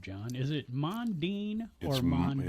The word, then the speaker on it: Mondin: Is it Mandine or Mandine? It's actually pronounced mandine.